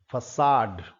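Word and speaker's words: façade: ई ये शब्द है फसाड। यह अंग्रेजी भाषा का शब्द नहीं है और इस कारण से इसका प्रोनंसिएशन थोड़ा डिफरेंट है। फसाड फसाड फसाड का मतलब होता है हाइडिंग प्लेस।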